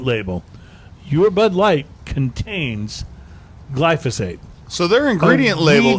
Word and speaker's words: glyphosate: have found traces of the controversial weed killer glyphosate. I'm not pronouncing it.